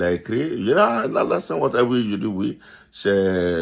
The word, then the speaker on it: Alassane Ouattara: C'était très difficile que pour lui de dire Alassane Ouattara. Il dit Allah, son, Ouattara.